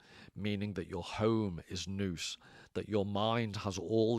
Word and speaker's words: nous: And this is where I formally said nouse. I mispronounced it. It's more like a Scottish noose.